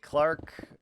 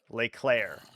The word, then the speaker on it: Leclerc: Clark is an F1 driver. Oh, okay. I would have never, ever guessed that in my life. I would have never known that. Claire. Okay, my bad. Claire. But it's spelled Leclerc.